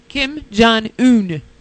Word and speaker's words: Kim Jong-un: there listening in uh North North what what Kim Jong-un yeah that's right Kim Jong-un yes that's how you pronounce it what'd you say Kim noon okay